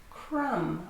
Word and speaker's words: crumb: Yeah, thumb also ends in MB and the B is silent. Crumb.